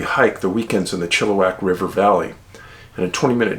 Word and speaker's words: Chilliwack: was corrected very soon after moving here it's pronounced chilliwack in july 2016 and recall well the missing